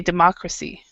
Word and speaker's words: democracy: democracy so this this this one is actually the stress so we say democracy democracy democracy but Democrat so if you say